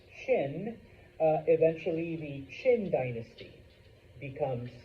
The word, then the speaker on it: Qin: But that eventually it is and it's pronounced Qin, eventually the Qin dynasty becomes the new power.